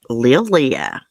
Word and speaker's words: Lillia: for him look at her i think you pronounce her name lillia is l-i-l-l-i-a look how beautiful her eyes are